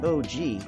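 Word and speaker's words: ogee: sides it's a great pattern for contemporary rooms pronounced og the fabric pattern looks something like an onion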